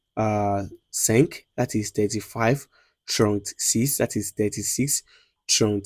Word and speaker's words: trente: 30 is trente.